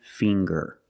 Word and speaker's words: finger: And finger. Finger. We see the nasal sound, plus the hard G, the G. Ger. Finger. I have 10 fingers.